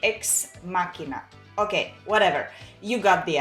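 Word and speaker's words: Ex Machina: pronounce it so uh according to what i've heard and google helped me it should be x machina okay whatever you got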